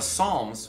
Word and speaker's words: psalm: if you're really curious about that silent p on the beginning of the word i i have an explanation for it i don't know if it's going to satisfy you but it's because in the original language that we get the word psalm from it's from the greek